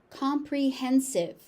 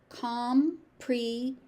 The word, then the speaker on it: comprehensive: Comprehensive. Comprehensive. Comprehensive. Make sure that you're pronouncing all of the syllables in this word.